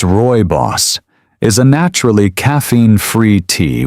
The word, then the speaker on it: rooibos: Rooibos, pronounced roy-boss, is a naturally caffeine-free tea with a smooth, slightly sweet taste.